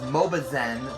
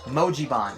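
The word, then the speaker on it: Mojiban: the Emoji Bond I originally said it was mobazen but it is actually pronounced mojibon m-o-j-i-b-a-n that's the name of it in the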